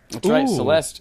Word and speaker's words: Celeste: last really this year Celeste it rhymes with molest and you're like our